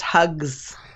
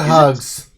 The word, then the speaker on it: Hux: a lot of characters it's pronounced hugs it is not hugs she's kind of pale sickly looking hugs it's not hugs stop it there you speak of